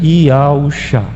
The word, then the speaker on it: Yahushua: Então, essa palavra embaixo, a leitura mais radical, mais antiga, mais simples é a pronúncia Yahushua, que significa Yahau é salvação.